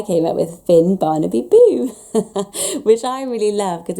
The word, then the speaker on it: Bo: And Finn was Finn, and Henrik's dad's called Boo. He's Swedish, it's spelled B-O.